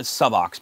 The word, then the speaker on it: Subox: Now, I'm pronouncing it Subox because it's only using one B in it, so it's not Sub-box, and it's not Subox.